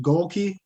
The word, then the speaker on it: Golke: And is it pronounced Golke? Yes, Okay.